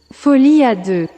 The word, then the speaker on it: folie à deux: I am horrible at pronouncing French, so let's let Google Translate, pronounce madness for two correctly. Folie à deux.